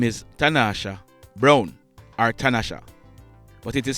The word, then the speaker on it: Tanasha: that lady on your screen her name is tanasha brown artanasha but it is spelt t-a-n-a-s-h-a she was 38 years old tanasha